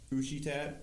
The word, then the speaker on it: Usihtat: And then my second one is at Ushitat, which is spelled USIHTAT, and then that has all of my sculptural pieces and like stuff that I make.